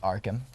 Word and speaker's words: Arkham: Arkham. Is that it? Did I say this right? It's pronounced Arkham.